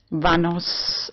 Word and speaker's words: Vanos: people on the street vanos it rhymes like a vamos a la playa but written within okay and I have